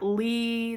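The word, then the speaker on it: Leigh: in the South, and like Lee, the L-E-I-G-H is a very Southern thing.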